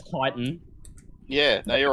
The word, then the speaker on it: chitin: That it's chitin.